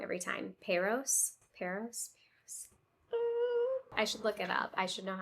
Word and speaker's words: Paros: Paros? I should look it up. I should know how to say it since I'm going. Let's see. Paros.